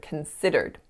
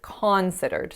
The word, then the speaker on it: considered: So instead of saying it like that, I said considered. So I put the stress on that first syllable and I then changed the sound. Instead of making it a schwa, I made it an ah.